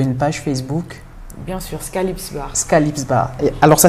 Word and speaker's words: Skahlips: C'est ce qu'on va retenir avec Skylips Bar.